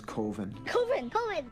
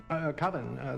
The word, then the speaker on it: coven: of the film is covin coven that's the proper pronunciation I know coven sounds like oven man and it's just it